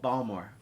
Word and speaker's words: Baltimore: when he's from Baltimore it's called balmor Baltimore oh excuse me that's